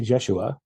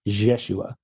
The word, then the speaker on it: Yeshua: memory is it's it's the pronunciation of it is like a mix of the two it's like a jesua so there's a mix